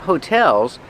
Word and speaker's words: hotel: And there are a lot of hotels because it's a tourist town. Remember, hotel, put the stress on the second syllable. Hotel. Not hotel, but hotel.